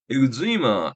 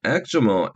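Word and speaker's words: eczema: 엑지마, 엑저머, 엑스머 발음 셋 다 가능하고요.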